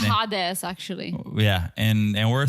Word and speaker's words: Hades: Hades that's on you it's not that it's hadz all right well okay